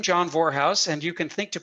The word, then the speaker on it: Vorhaus: single vector if you have my name john warehouse j-o-h-n v-o-r-h-a-u-s rhymes with well never mind it's easy to remember